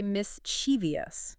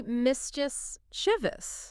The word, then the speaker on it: mischievous: A lot of people say mischievous. Oh, yeah. Mischievous. I've definitely heard that. But it's actually mischievous. Just two syllables.